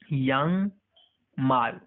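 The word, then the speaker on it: 양말: अब देखिए यहाँ पर ये इसके या के आगे जो एनजी साउंड है, इसका साउंड प्रोनाउंसिएशन एनजी वर्ड है, ये अल्फाबेट है, अल्फाबेट में आता है, तो इसका साउंड नहीं होता है, ठीक है।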